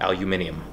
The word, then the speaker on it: aluminium: know their purchase one yeah that's the correct pronunciation i Lou minium aluminium right that's true sure the plans for this